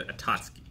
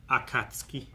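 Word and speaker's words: 暁: right yeah oh yeah I've always said a tosuki yeah it's K not t okay sales Russia Akatsuki you know having gone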